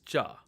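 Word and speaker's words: ज: in charge charge as opposed to Church church this is JA the next letter is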